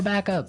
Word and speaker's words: backup: point out that here the pronunciation and stress of this phrase is really important hey yes yes you have to say backup Backup backup yeah so both words are stressed at about the same level hey mhm backup cuz